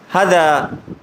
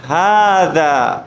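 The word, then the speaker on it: هذا: আমি যদি এটা বলতাম হাদা হাদা, তাহলে এটা কি হবে? ভুল। আমাকে উচ্চারণ করতে হবে, হাতও একালিফ টানতে হবে, হাদা। কি বলবো? হাদা। এখন কেউ যদি বলে হাজা, তাহলে কি হবে? ভুল হবে।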